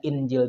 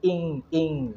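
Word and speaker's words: إنجيل: kita menemukan dalam al-qur'an dibacanya Injil juga padahal ya kalau menerapkan kaidah ya Injil berarti harus dibacanya ING ING ya jadi ikhfa demikian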